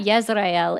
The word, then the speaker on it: Israel: Just like That's not most people don't know that Yisrael is the correct pronunciation of Israel.